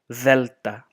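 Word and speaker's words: δέλτα: So gamma, so alpha, vita, gamma, and then delta, like a the, like when you say the th is the delta, delta.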